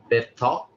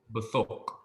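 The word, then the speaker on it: בְּתוֹךְ: Betok. Betok. It's close. Bethok. Oh, yes, Bethok.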